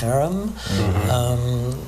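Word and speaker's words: herem: In fact, the use of do I pronounce it the harem? Or is it haram or harem? Harem in Hebrew.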